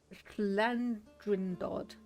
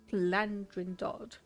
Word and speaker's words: Llandrindod: So it's Llandrindod. Llandrindod.